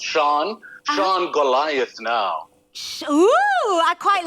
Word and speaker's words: Sian: Sean, you got to say it right, Sean. Yeah, everybody struggles to pronounce it. It's Sean Goliath now.